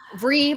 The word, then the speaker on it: Vrykolakas: Vrykolakas. Like free Ricolacas.